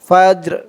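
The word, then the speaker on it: فجر: হবে ফা জিম জবর ফাজে ফাজে রজের রি ফাজর করার কারণে উচ্চারণ হবে ফাজর ফাজর মাতুলাল ফাজর হিয়া হাত্তা মাতুলাল ফাজর সালামুন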